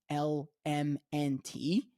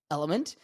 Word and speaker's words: LMNT: say horrible marketing because it's spelled l m n t and pronounced element uh which is actually